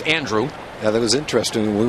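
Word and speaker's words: Andruw: around on that and it is pronounced Andrew not Andrew he says follow those years in Atlanta couple their announcers did the Andrew thing but it's Andrew yeah that was interesting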